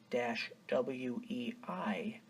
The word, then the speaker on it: Sacagawea: Tsakaka-wei translates directly to Shoshone as bird woman, and of course she was a Shoshone Indian. Sakakawea is the official spelling of the 3 tribes of the Mandan, Hidatsa, and Arikara.